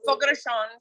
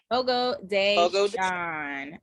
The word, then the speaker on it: Fogo de Chão: It's a Fogo de Chão Brazilian steakhouse. Fogo de Chão.